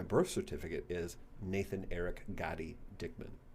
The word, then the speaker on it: Gotti: certificate is Nathan Eric Gotti Dickman g a d pronounced Gotti goty yeah so you have two